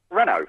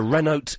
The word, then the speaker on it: Renault: How do you say the word Renault, Peter? Renault. Right. Okay. Every time I phone up the congestion charge and I give them the registration number, they go, "That's a Renote." Cleo. They say Renold.